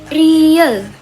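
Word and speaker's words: 리을: Selanjutnya ada real. Real. Kayak gini, dia kayak huruf Z di bahasa Indonesia, tapi kalau di Indonesia dia tuh dibacanya R atau L.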